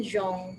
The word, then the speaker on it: Jean: mirei itu menikah dengan zong ya itu cara membaca bahasa Prancisnya ya Jean itu zong ya mirei Nah itu